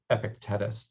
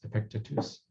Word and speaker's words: Epictetus: This is Epictetus that I used to pronounce Epictetus, but it's Epictetus, which is kind of the beginning of cognitive behavioral therapy back in ancient Greek times.